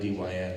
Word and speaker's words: Dyn: I am a fellow at DYN, and this company, DYN, D-Y-N, it is spelled, but it's pronounced DYN.